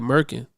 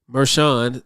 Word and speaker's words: Merchan: attorneys for saying in a previous interview that Merkin Maran that's that's how he pronounced it I kept hearing it in the news and they was pronouncing it meran so I was when I was saying Merkin